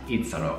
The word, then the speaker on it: Ito: it said but this if it's not pronounced this way this is how I want Ito to be pronounced Ito I think it's just so so cool and it's kind of pronounced like you're saying eat sorrow um like he eats